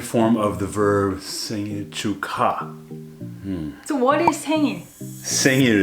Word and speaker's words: 축하: So when you pronounce them together, it sounds like K. 축하. But it's written as 축하.